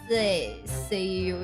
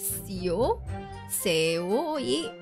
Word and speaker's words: seoi: Ippon seo. How do you pronounce this? Pronunciation? Please? Please? The se. Okay. Hold on. Seoi.